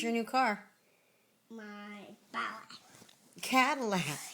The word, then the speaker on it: Cadillac: Lilac. Cadillac.